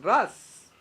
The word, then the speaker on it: raz: corazón así que la palabra misterio en arameo originalmente es ras arameo se pronuncia RX r a Z s lo dije bien RX con z significa secreto esta palabra